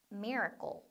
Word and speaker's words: miracle: 우리는 이거 쓸 때 miracle 이렇게 쓰잖아요. 그러니까 여러분들이 클이라고 발음을 해야 될 것 같지만 클이 아니라 약간 goal 이렇게 돼요. miracle. miracle.